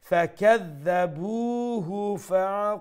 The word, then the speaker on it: فَكَذَّبُوهُ: Okay, on the middle third line, فَكَذَّبُوا, the boo is going to be stretched, okay? فَكَذَّبُوهُ فَعَقَرُوهَا.